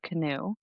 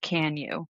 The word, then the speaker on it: Canoe: The book is called Finding Michelle Canoe. That's my mother's name Michelle It's actually pronounced Can you, I've been told.